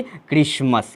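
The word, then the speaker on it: Christmas: और S से स, टी साइलेंट हो जाएगा यहाँ पर, M से म, ए से अ और S से स, यानी कि क्रिसमस।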